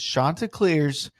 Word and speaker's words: Chanticleers: He even said in one interview, he said the correct pronunciation for their mascot. Like their Chanticleers. Yes. And he was like, it is Chanticleers. Get it right. Yeah, not like, Chanticleers, Chanticleers.